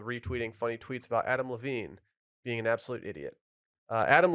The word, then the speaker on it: Levine: is this about Adam Levine this is It's pronounced Levine is this about the rising cost of lunch